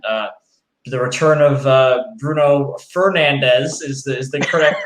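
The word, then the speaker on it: Bruno Fernandes: goals and then uh the return of uh bruno fernandez is the correct pronunciation if i may say so um but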